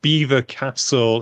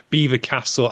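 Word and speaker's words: Belvoir Castle: I believe it's pronounced Beaver Castle it's spelled Belvoir but it's Beaver Castle I think because the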